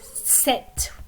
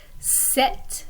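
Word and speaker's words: sept: so in the number set which is the number for 7 the p is silent but we pronounce the t same thing in the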